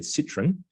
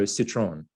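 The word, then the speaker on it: Citroën: And shout out to Planes, Trains and Dogs and Cars who criticised my pronunciation of Citroen. I think I'd said Citroen, and I'll go Citroen. I hope that's Citroen. I hope that's better.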